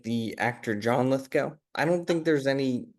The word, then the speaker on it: Lithgow: Uh Lithco, like the actor John Lithco. I don't think there's any relation. Uh but it is pronounced Litho.